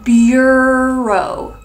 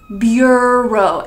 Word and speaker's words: bureau: this government office but make sure when you pronounce it you say Bureau Bureau and not you hold this is a very